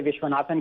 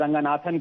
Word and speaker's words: Ranganathan: Ranganathan, go ahead. Now, my good friend Mr. Zubair, who continues to mispronounce and my name, पहले विश्वनाथन कह दिया, फिर रघुनाथन कह दिया, अब मतलब रंगनाथन को, अब मैं इनको